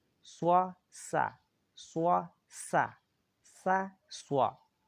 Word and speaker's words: ص: Swa is spelled SHWA Mhm. and is bold.